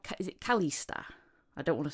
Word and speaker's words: Calista: Is it Calista? I don't want to say it wrong. Yes, yes. It's Calista.